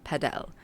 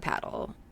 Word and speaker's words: padel: My God, So I'm never gonna be yeah, able to say padel. yeah. I will call It's it paddle.